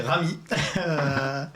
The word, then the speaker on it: RM: dans la série alors moi je suis rm prononcé ravis et c'est un rappeur